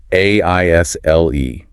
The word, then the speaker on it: aisle: Oh, the spelling of aisle. Right. A-I-S-L-E. The source makes a point to tell him and us that the S is silent.